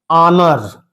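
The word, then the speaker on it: honour: इस एच को लिखिए हिंदी में। तो कैसे लिखेंगे? ऑनर। It would be एन ऑनर। आनर एच का। अब इसका उच्चारण स्थान किस में आ गया? स्वर में।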